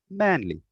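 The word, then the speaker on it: Manley: name then i'll say my family name is manly they'll often say manly can you spell that for me i'll say yes m-a-n-l-e-y manly manly nice to meet you and i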